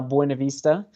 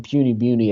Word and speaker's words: Buena Vista: there in uh in puny beauty as we as we call it they call it puny beauty that's i mean yeah the real locals call it puny although it is growing